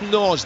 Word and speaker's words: Nagy: It's spelled Nagy, but I'm sure it's Norge, the former Bristol City player.